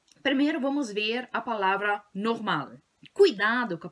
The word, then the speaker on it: normal: Primeiro vamos ver a palavra normal. Cuidado com a pronúncia, não é normal, como vocês falam no português, yeah? Normal. A ênfase é no ma, só que cuidado com a pronúncia do L.